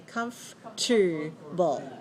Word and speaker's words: comfortable: as comfort we say comfortable remember this word right come all right so the spelling matches the word family but the pronunciation is different so the adjective is